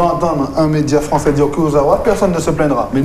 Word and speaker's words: Kurzawa: Non, c'est Kurzawa. Vous savez, par rapport à... Pour le Guadeloupe. Par rapport à la prononciation, moi, j'ai un avis qui est encore exagéré, vous ne pouvez pas changer.